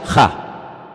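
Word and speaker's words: ה: En hebreo solamente hay un artículo, no hay él, no hay la, hay uno solo. Se pronuncia ja, solamente hay uno.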